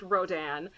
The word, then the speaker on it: Rodin: It's because it's spelled like Rodin, but it's pronounced Rodin because he's French.